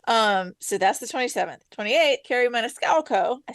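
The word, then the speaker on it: Kerri Maniscalco: 28th, Carrie Maniscalco.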